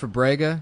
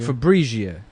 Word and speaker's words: Fabrega: comp- Fabrega? Yeah, and It it's sounds like Fabrizia.